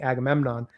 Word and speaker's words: Agamemnon: and uh Safy's charact Oh, well Safy playing Agamemnon.